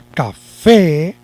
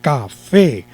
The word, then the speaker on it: café: caso de la palabra café es una palabra aguda lleva el acento en la última sílaba café como se si lleva